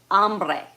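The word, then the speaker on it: hambre: I'm hungry okay Tango amre the H is silent but it's h a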